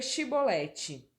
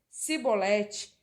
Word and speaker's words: chibolete: respondesse que não diziam Então diga chibolete se ele dissesse cebolete sem conseguir pronunciar corretamente a palavra prendiam no hematavam no